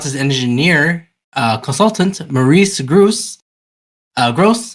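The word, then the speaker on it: Grosse: engineer uh consultant Maurice Gru uh gross is it Gru or gross gross gross and that's not me insulting the man that's how you say his name gotcha well he looks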